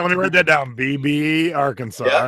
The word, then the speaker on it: Beebe: BB, Arkansas. Yeah. All right, cool. I got it now. It's crazy. It's spelled like Don Beebe, Oh, so yeah, so